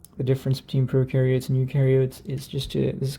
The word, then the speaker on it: eukaryotes: eukaryotes so u oops e u kinda rhymes with yes right so u yes it has that y sound u yes so here